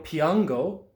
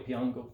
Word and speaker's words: piango: Io piango, tu piangi, lui lei piange. Remember that G-O becomes go, and the G-I and G-E becomes G and J. Io piango, tu piangi, lui lei piange.